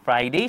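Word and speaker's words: Friday: এখানে কিন্তু লক্ষ্য যদি করি আমরা আর এর পরে কিন্তু এখানে আই আছে। তাহলে কি? আই হচ্ছে একটি ভাওয়েল। যার কারণে এখানে আর উচ্চারিত হয়েছে ফ্রাইডেই শুক্রবার। তাহলে আমরা আজকে কি শিখলাম?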